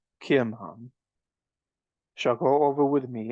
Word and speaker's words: Kimham: The king answered, Kimham, or Chim, I think it's pronounced Kimham, shall go over with me, and I will do to him that which shall seem good unto thee.